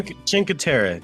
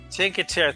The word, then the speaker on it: Cinque Terre: And our favorite place that we went to is, and I have the hardest time pronouncing this even so many years later. Chinkatera. Chinker. Chinkatera. Thanks, Alex. Chinkatera.